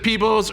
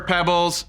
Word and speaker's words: Peebles: Whether you pronounce it Peebles or Pebbles, it does not matter.